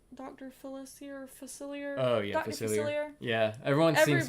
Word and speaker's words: Facilier: character design is giving me how do you pronounce Dr Phyllis here facilier oh yeah yeah everyone seems to be saying